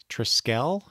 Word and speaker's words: Triskele: So, okay, next up is I believe it's Triskele. I pronounce it Triskele.